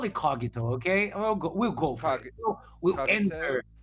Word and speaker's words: Cogito: you can call it kito which is actually the correct pronunciation in Latin. So we'll call it kogito.